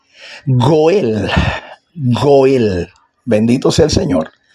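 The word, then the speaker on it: גואל: Y entonces esa misma expresión eh escrita con tres letras, Gimel, Alep y Lamet, ya no se dice Gal, no, sino que se se fonéticamente se lee Goel.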